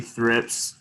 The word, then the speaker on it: thrips: couple quick notes you'll hear me say a thrips thrips is both plural and singular so um it